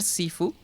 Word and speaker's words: Sifu: que por cierto eh Shifu yo le llamo así porque o sea pronunciar Sifu hasta parece que fuese equivocado esa pronunciación siendo que es una palabra pues asiática entonces yo me siento más cómodo llamándole Shifu y Shifu se quedó para mí pero de todas formas